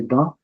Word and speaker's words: bancs: So, la banque, so it's pronounced as ba, and we don't pronounce C here. So that we don't pronounce. So it's les bancs.